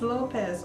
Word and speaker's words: Lopes: family was from there and her name is Lopez only it's pronounced Lopes it's l o p s because the difference